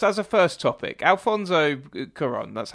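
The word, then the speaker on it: Cuarón: there's a first as a first topic alfonso quran that's how you say his name is yes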